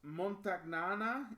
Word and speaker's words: Montagnana: terrible at names but I think it's pronounced montagnana in Veneto Italy um that's also